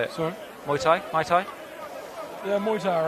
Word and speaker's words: Muay Thai: Do you wrestle and fight in Mai? Muay Thai. How do you say it? Sorry. Muay Thai.